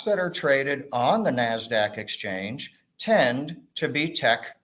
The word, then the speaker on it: NASDAQ: Although in conversation, people generally just go by the phonetic pronunciation NASDAQ.